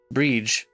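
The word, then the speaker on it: Bríd: It's pronounced with a long E, similar to the English word breed, but the final D is like the D in Bridget. Breege.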